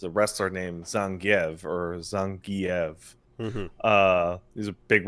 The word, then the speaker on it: Zangief: But like it was like 25 years before the pronunciation was updated in SF5 four after Yeah. four is the one that changed it in four. You got the guy going Zangf, you know, like Yeah.